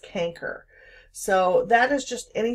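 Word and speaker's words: chancre: those of you who are unsure that is pronounced canker so that is just any type of allion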